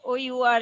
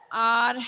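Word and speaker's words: hour: short hand is called our hand our hand h o u r is the spelling but it is pronounced as our hand our hand okay so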